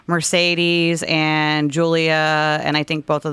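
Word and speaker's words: Giulia: uh who is it Julia you spell it g-i-u-l-i-a um Dragon I don't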